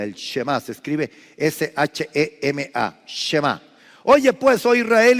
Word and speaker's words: Shema: Márquele ahí al margen de la Biblia, el Shema, se escribe S-H-E-M-A, Shema.